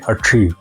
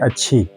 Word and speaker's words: अठरी: Like शना में हम बोलते हैं अठरी। अ आंख को अठरी बोलते हैं। अरी मीन्स आंखें। तो वहां के लोग ये अ ये जो साउंड है ये प्रोनाउंस नहीं कर पाते। वो कहते हैं अच्छी तो इस इस लफज़